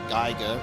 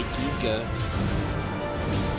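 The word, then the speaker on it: Giger: After a whole life of being, you know, Australian and pronouncing it as HR Geiger, people do not like that. I've had to force myself to say giga.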